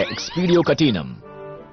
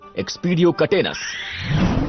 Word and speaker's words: एक्सपीरियो कैटिनम: जैसे इस जादुई मंत्र का उच्चारण है एक्सपीरियो कैटिनम। प्लीज याद रखो। ब्लूम क्या तुम ट्राई करना चाहोगी? जरूर। एक्सपीरियो कैटन। बढ़िया। अब देखो गलत उच्चारण पर क्या होता है। एक्सपीरियो कटेनस। देखा गलत हो गया।